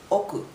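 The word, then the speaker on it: 億: another uh comma and after that it's called oku okay so same Ru that will be right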